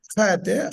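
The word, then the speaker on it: חית: Chet, chet. The pronunciation is chet, yeah?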